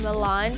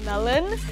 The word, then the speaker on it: Milan: in my channel that people mispronounce my name from milan to melon melon it's me milan milan